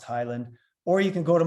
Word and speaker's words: Heyland: spelled uh h y l and D but pronounced Highland or you can go to my website and